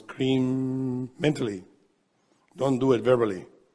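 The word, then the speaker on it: krim: are pronouncing the mantra cream the mantra in sanskrit cream ca k-r-i-m an easy way to understand is if you like cream just pronounce that word there mentally and then you take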